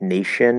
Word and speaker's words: nation: it's just spelling like nation is just sh sound spelled with a t right nation and i